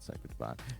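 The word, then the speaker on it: Cphr Dvn: Kentucky with Cipher Divine spelled without any vowels that's c p HR dvn I'm assuming it's no no they say it's called Cy Divine and that's with our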